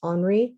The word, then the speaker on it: Henri: is titled goldfish by henri matisse so it looks like henry but this is a french artist that would be pronounced henri matisse 1912 and this is